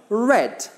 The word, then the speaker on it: read: past of read hmm it's I read read read okay so it's the same spelling but different pronunciation I read your email